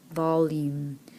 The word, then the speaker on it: volume: we have volume oh volume notice that the e is silent but the U is making its second sound so is that E